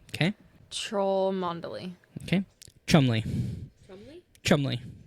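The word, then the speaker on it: Cholmondeley: Cholmondely. Okay. Trollmondely. Okay. Chumley. Chumley? Chumley. Just simple two syllable Chumley.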